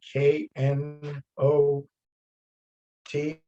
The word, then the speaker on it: knot: and that good question there is no difference phonetically there if you say not it can be knot the noun i'm going to tie my shoe in a knot or it can be the the negative adverb not i'm not going to this story it can be either one so i don't really see a difference phonetically there's not that's a homophone two words with the same phonetic representation but spelled differently good sarah nice no question